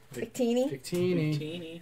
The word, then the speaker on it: Victini: Victini.